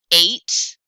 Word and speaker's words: eight: really say the T eight what is that GH doing there eight some n oh another silent